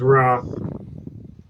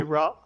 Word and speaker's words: Roth: boat Swain let's see it's the other way of saying wrath instead of instead of saying rap raw like raw like a Roth no not oh my